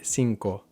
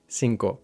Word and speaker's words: cinco: So we end up saying instead of cinco sinko.